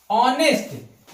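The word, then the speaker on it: honest: जैसे ऑनेस्ट यहां देखिए एच से शुरू है कोसोनेंट से लेकिन जो साउंड है वो वोवेल की दे रहा है। ऑनेस्ट यहां पे एस साइलेंट है।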